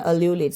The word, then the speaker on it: ululate: Okay, അല്യൂലേറ്റ്, അങ്ങനെയാണ് അല്യൂലേറ്റ്.